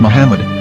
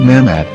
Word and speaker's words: מחמד: According to Ben Yehuda's Hebrew English Dictionary, it is correctly pronounced as Muhammad, not Mahmad.